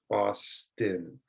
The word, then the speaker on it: Boston: It's also common in some city names. For example, I live in Boston. Boston.